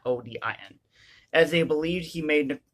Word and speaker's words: Odin: He is pronounced O-D-E-N, not O-D-I-N, as they believed he